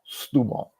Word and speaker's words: Setúbal: And then it's like, okay, now I can say Setúbal.